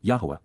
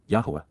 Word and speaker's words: Yahowah: and recite, Cal imperfect cohortative, from 11 QPs, Yahowah, Yahowah, the proper pronunciation of the name of Eloah, God as